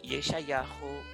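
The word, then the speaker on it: ישעיהו: como Yirmiyahu o como Yeshayahu. Yirmiyahu es como se pronuncia realmente el nombre de Jeremías y Yeshayahu es como se pronuncia en hebreo el nombre de Isaías.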